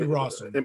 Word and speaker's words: Rossum: I know I'm probably gonna say her name wrong, but Emmy Russell. Emmy Rossum.